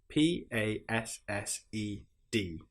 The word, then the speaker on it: passed: P A S S E D passed. Some other examples are itched, scratched. You will notice in these examples that we don't pronounce the e sound at all.